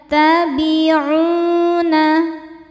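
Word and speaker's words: يَتَّبِعُونَ: yattabiuna u hukumnya mad thobii zohiri karena ada wau sukun sebelumnya dommah. Cara bacanya panjang dua harakat. In yattabiuna illa.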